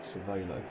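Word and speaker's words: Cervélo: Not sure how you meant to pronounce that, but the accent on the E was to suggest Cervelo.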